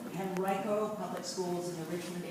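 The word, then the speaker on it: Henrico: educational leadership he uh worked in the henrio pronounce it henrio henrio public schools in the Richmond area he was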